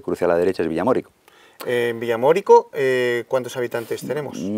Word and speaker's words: Villamórico: a este pueblo llamado Villamorico. Que no, no es el acento en la O. De Villamorico. Eso iba a decir, de Villamorico es un pueblo árabe navarro, pero este es Villamorico.